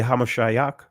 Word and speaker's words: Hamashiach: ultimately they deny hamashia now when I say hamashiach that is the ancient pronunciation of what you would say many would say the Messiah or Christ see when I teach